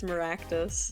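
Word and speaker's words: Meraktis: already forgot I am pretty sure it's maractus maractus like malpractice with cactus yeah yeah hey is that the pun maybe I don't know but that's what I'm going to remember it mirus rhymes with malpractice what is this maractus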